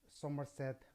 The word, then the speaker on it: Somerset: Somerset Maugham, okay, pronounced Mom.